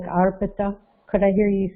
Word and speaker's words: arpita: I don't think we pronounce it arpita. It's arpita, I, arpita, not arpita.